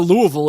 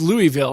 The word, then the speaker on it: Louisville: uh it was Rui it's not Louisville it's Louisville I was like have